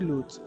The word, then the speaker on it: lose: ব্যবহার করি সেটা হচ্ছে লুজ। যে লুজ, অথবা আমরা অনেক ক্ষেত্রে বলি যে লস, যে আমি এই জিনিসটা লস করেছি সেক্ষেত্রে বলি, বাট এটা যে প্রোনাউন্সিয়েশন বলি সেটা হচ্ছে লুজ।